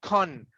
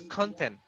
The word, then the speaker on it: content: But if I change the intonation, if I put my intonation on the word tent, no more content, it will be content.